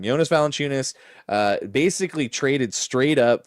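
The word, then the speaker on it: Jonas Valančiūnas: Uh wait, Jonas Valenunis, I almost said his name wrong. Yonas Valenunis, uh basically traded straight up for Dario Sarich, who played no minutes last year.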